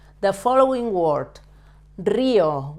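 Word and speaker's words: río: The following word, Rio. Why do we stress the letter I? We say Rio, not Rio. Rio, because it has a written accent.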